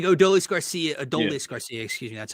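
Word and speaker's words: Adolis García: ideally, Adolis Garcia would be your cleanup, like Adolis Garcia, excuse me, that's how he pronounces it.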